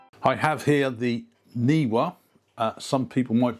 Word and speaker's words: NEEWER: I have here the NEEWER. Some people might pronounce it as NEEWER. It's NEEWER.